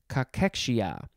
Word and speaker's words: cachexia: Yes, it is pronounced cachexia.